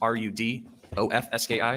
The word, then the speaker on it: Rudofsky: Special Agent Peter Rudofsky, that's Rudofski, and it's pronounced Rudolph and then Ski.